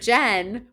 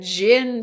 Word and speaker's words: Jen: say Jinn when they're saying Jen but where did you guys get Jinn for my name like like the liquor so weird cuz I'm